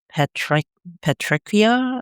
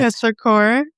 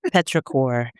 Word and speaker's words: petrichor: the project is titled, and I may screw this up, Petric Petrichia, or how do you say that? Petrichor. Petrichor, Yeah.